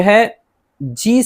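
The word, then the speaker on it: hedge: तीसरा है D silent D भी कई जगह नहीं पढ़ा जाता है। जैसे जी से पहले आया हुआ डी खामोश रहता है। कहीं भी जो है जी से पहले आया हुआ डी रहे यानी डी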